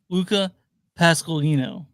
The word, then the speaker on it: Luca Pasqualino: His name is pronounced Luca Pasqualino.